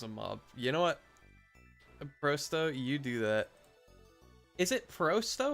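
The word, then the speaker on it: просто: Not o, not oi, not o, or or o, or whatever. Just an o.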